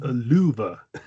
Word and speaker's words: lufu: Spelled L U FU and pronounced No, it's pronounced louva. The f is pronounced like a v.